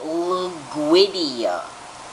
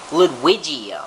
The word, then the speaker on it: Ludwigia: don't want to look like a dummy and pronounce it wrong yeah just like i assumed l-u-d w-i-g-i-a okay how do you get luguidia now i can maybe see if the g